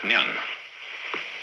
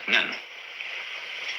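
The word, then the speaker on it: 念: It's pronounced nyan, in Japanese, nen.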